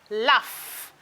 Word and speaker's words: laugh: here we We have laugh. Laugh. You can see the F being pronounced. We have tough. F. The F sound.